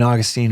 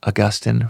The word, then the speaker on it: Augustine: It's kind of like St. Augustine, or Augustine for the cool people out there that pronounce it that way.